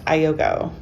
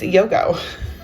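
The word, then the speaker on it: iögo: of my lunch videos that this is not pronounced Iogo. Which everyone around here pronounces it Iogo, but it's not. So, evidently we haven't seen the commercials. And it's Yogo.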